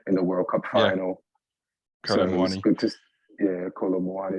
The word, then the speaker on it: Kolo Muani: His name is easier to pronounce once you say Kolo in front of it, and then it flows right into the Muani.